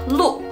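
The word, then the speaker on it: 鹿: Kara di unya ini di atasnya tidak ada titik dua kalau ada titik dua di atas punya baru kita bacanya I Nah rusak adalah lu lu lu e-blue dibacanya Lu karena di atas punya tidak ada tanda titik dua Sekarang kita akan masuk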